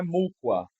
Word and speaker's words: mukwa: Cuidado que não é mukwa, é mukwa. Não é mukwa, é mukwa. Então nós temos o acento tônico na segunda sílaba, mukwa.